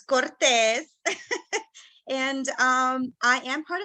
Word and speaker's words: Cortez: um it's one end so that's why I pronounce it and it's Cortes and um I am part of the Mainer